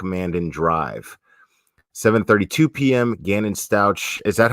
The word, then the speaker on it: Stauch: Gannon Stauch. Is that how you say it? I want to make sure that we pronounce his name correctly. I believe it's Stauch.